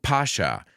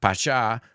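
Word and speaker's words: Pascha: let's define Easter Easter is also called Pasha not Pasa like that club in itha it's also called Resurrection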